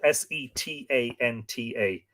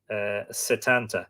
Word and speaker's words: Setanta: It's spelled Setanta. Setanta. Sometimes with a fada on the E, Setanta.